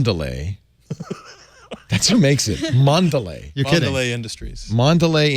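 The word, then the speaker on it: Mondelēz: I saying it right Mon valet or Mondelez it's one of the world's largest snack companies I know that yes got a little bar over the e which would indicate Mondelez and God you gotta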